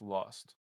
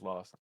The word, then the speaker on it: ILXST: It's Lost. Hype chat. All right, that fam, appreciate you. You pronounce his name Lost. Who? ILXOST. Gyro? No, IL. Oh. Lost? Yeah, it's just Lost.